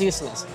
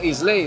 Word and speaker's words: Islay: los whiskies de las islas. Que no se dice Islay, se llama Isla.